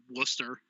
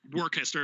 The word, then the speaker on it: Worcester: Anyways, but no, it's basically servicing like, I think he said the farthest north I would go would be like Worcester or Worcester if you want to fucking pronounce it like.